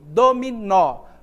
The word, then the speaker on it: dominó: dominó pronuncia comigo dominó Qual é a sílaba que é pronunciada com mais força é o dó é o me ou é o nó perceba que a palavra Olha só dominó a sílaba mais intensa que a pronunciada com mais força é a última é um nó certo então a gente